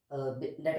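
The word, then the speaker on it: debtor: लोग इसको डेप्टर कहते हैं, डेप्टर, बी साइलेंट होता है, डेटर होता है।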